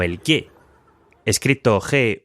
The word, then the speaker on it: guet: que me hablaban de G que se pronuncia G pero se escribe g a y no sé si ya